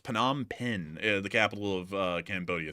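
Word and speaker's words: Phnom Penh: Well, also uh I see some people saying it's pronounced Panama Pen, the capital of uh Cambodia.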